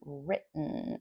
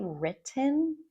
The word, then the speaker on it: written: And I've mentioned before that the way to pronounce this, you can say written and probably you learned written. But real native speakers, at least for American and Canadian English, we say written.